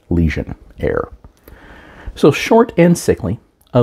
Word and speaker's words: Lesionnaire: the legionaire first and I'm not mispronouncing it it's supposed to sound like legionaire but it is leion air so short and sickly